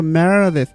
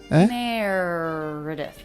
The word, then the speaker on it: Meredith: I just saw Meredith. Meredith. Then the two unstressed syllables are...